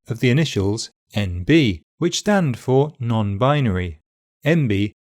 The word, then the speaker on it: NB: to say MB also the stress in the abbreviation NB is normally on the second syllable the B and